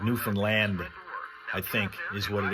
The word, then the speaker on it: Newfoundland: 379 Mandy says Newfound Land. That's how you pronounce it.